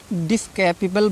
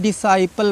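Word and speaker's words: disciple: क्योंकि इसमें सी साइलेंट है, सी का प्रोनाउंस हमको नहीं करना है। ऐसे इसमें डिस्कैपेबल बोलते हैं, डिस्कैपल बोलते हैं कुछ बच्चे, ठीक है।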